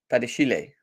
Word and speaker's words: Badiashile: The accent on the Badiashile, E for Badiashile. Badiashile.